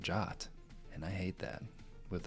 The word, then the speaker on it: JWT: JSON web tokens where that spec actually says you should pronounce it Jot.